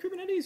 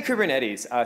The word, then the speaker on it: Kubernetes: Who here has played with Kubernetes, used Kubernetes? Not that many people have heard of Kubernetes? I say Kubernetes. Some people say Kubernetes. Technically, it comes from the Greek word helmsman.